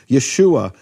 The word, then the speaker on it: Yeshua: from the emphasized syllable how do I know where this emphasized syllable is in Yeshua well because it can only be the final or second-to-last syllables only the possibilities in Hebrew and if you have this earlier vowel it can't it just can't be it's just how it works you can't have yahushua